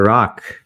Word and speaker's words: Rak: hi there my name is Dr rock that is uh spelled r and pronounced ROK and I am the lead physician